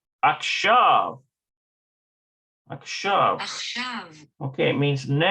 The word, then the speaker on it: עכשיו: Okay, it's not akshuv, it's something else. עכשיו. Akshav. Akshav. עכשיו. Okay, it means now. So what are you doing? What are the children doing now? Hayeladim. Ma hayeladim akshav.